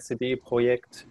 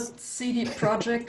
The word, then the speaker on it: CD Projekt: not cd project right it's not cd project it's it's complicated yeah i also i like the way you pronounce it so yeah that's the one benefit of being german and a polish company so the project is very easy to pronounce yeah perfect uh yeah